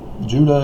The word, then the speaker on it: Judah: And in case you didn't know, Judah, I've done the videos, Judah is phonetically the same as Utah.